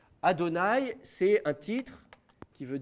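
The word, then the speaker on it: אדני: place, et en l'occurrence, on prononçait Adonai, qui est un mot hébreu qui veut dire Seigneur. Je vais vous l'écrire en dessous, comme ça vous saurez comment il s'écrit. C'est Aleph, Dalet, Nun, Yod, ça c'est pour les consonnes. Au niveau des voyelles, c'est Chatef Patar, Cholem et Kametz.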